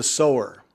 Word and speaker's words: sower: But I want to talk today about the sewer. And and just so I spell that doesn't sound like so.